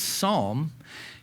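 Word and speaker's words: sawm: It's pronounced as psalm.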